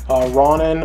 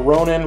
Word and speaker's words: Ronan: show you guys this this new Ronon or Ronan whatever you want to pronounce it from the guardians of